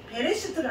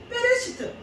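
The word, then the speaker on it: בראשית: 원문에 그 발음으로 하면 베레스트가 베레스트 베레스트가 아니고 페레시트 원래 그 유대인들은 이렇게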